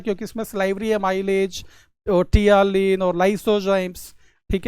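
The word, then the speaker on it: ptyalin: है जिसको हम जनरली टियालिन के नाम से भी जानते हैं। पील साइलेंट है इसमें।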